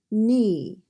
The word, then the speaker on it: knee: N-e, knee. And the K is silent in this word.